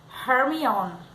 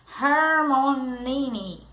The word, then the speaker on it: Hermione: luz das velas grande agora ele ensinava a pronunciar seu nome corretamente e ele não parava de chamar ela de arm on on e Hermione dia ela lenta claramente irmão nem bastante parecido encontrando os olhos de Harry e